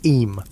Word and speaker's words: Eyam: Eyam, is pronounced just like Eam.